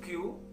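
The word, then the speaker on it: 九: 29 nya itu kya bukanku yang dipakai tapi kyu dalam pengucapan angka itu yuk ya dulu dia menolaknya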